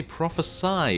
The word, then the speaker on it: Prophesy: So yes, apparently prophesy is the correct way to say this particular spelling of the word, and also you'll probably notice the difference in the title of the video as well.